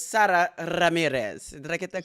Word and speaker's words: Sara Ramirez: Saxon uh pronunciation is Sarah Ramirez but I think I got it right it's Sarah Ramirez did I get that correct you you really rolled that R and you also got